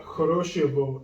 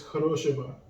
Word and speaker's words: хорошего: This is not Horoshivo, this is Horoshiva. Oh, the vowel reduction. Yep, so the stress is on the second O, so Horoshiva.